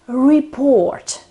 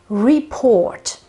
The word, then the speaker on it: report: word is report report this word is always the same it doesn't matter whether it is a noun so the report or a verb so to report but the accent is always on on the second syllable so it's always on the o in Italian many people